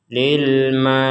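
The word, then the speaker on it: الملائكة: Kalau kita tidak kuat nafas berhenti di sini, maka ta yang seperti ini yang tertutup seperti ini namanya ta marbutah ini kita mengucapkannya dengan huruf ha. Jadi bukan huruf ta lagi.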